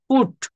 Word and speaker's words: put: সিম্বলটা কিন্তু এখানে উ, এর ফলে কিন্তু PUT, এখানে আমরা পার্ট বলতে পারছি না, এটার উচ্চারণ কিন্তু পু হচ্ছে, পুট। এই যে ভালো করে খেয়াল করেন, উপরে লক্ষ্য করতে হবে লেটার অনুযায়ী উচ্চারণের ফলে PUT এর উচ্চারণ বাট এর মতো পাঠ হতো, কিন্তু IPA সাউন্ড অনুসারে এখানে পাঠ না হয়ে পুট হয়েছে, যেটা আন্তর্জাতিকভাবে কিন্তু স্বীকৃত।